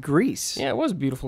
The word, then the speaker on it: Gris: called Gris. Yeah, it was a beautiful That's game. the correct pronunciation, right?